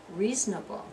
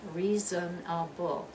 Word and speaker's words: reasonable: syllable comfortable comfortable and I hope you'll be reasonable not reasonable reasonable reasonable you're dropping that second one there aren't you reasonable and